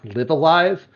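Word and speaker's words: Live A Live: I believe it's pronounced Live Alive.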